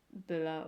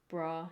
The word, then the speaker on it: Bra: And Bula or Bra, depending on how you want to say her name, is also little.